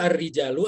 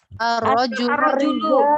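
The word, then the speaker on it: الرَّجُلُ: Nah, bacanya yang betul ar-rijalu apa ar-rajulu? Ar-rajulu. Kalau ar-rijal begini nulisnya ya. Nah, kalau ar-rijal begini ya. Oh. Jangan salah baca. Ini ada di jimnya ditambah alif panjang. Ya. Ar-rajulu.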